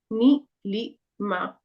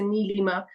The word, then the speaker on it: Neelima: Neelima. Or you can also say Neelima. Again, you'd have to ask them how to say it, but Neelima works fine.